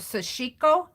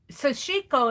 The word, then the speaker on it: sashiko: here is kind of like my version of sashiko um sashiko it's spelled s-a-s-h-i-k-o it's a japanese kind of a